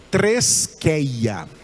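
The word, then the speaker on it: θρησκεία: A palavra grega, que se pronuncia treskeia.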